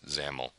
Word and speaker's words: XAML: new markup standard called xaml or they pronounce it zaml if you've ever messed